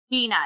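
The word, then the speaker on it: Jeanna: uh jean-ann uh dewal i think it's how we say her name gina it's actually i i recently watched an interview with her and it is gina just a very conscious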